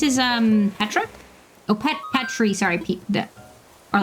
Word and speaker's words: Petri: I assume it's pronounced it's meant to be pronounced petri like petri dish. I was pronouncing it Petri like Petra like the name but Oh, gotcha.